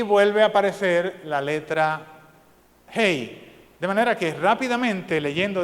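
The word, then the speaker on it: הא: esa letra en hebreo es Hey H se suena como Hey como un saludo de nosotros Hey de manera que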